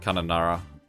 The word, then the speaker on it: Kununurra: The good thing about a lot of Australian names is that they're very, read them as they're written. So that would be Kununurra.